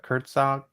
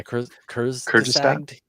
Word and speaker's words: Kurzgesagt: I always pronounce the name wrong, but Kurtzog, right? Yeah, Kurzgesagt.